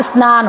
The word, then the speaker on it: स्नान: शुद्ध शब्द इसका स्नान होगा। उच्चारण करेंगे तो कैसे करेंगे? स्नान। ऐसे करेंगे बेटा। ये सही है।